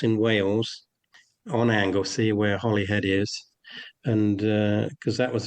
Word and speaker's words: Holyhead: Catherine's, you were at the Holy Do you do you pronounce it Holyhead or is there another pronunciation? We call it Holyhead. Holyhead Holyhead. Yeah, it's it's actually spelled Holyhead.